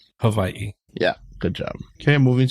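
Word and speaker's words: Hawaiʻi: you can you know people say it like with a V Hawaii or people even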